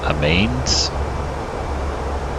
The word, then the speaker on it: Amiens: See, these Europeans are going to hate me, but it is Amiens.